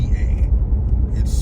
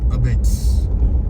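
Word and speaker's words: apizza: a pizza like a p i z Za a it's pronounced abits or abits abits I don't know why but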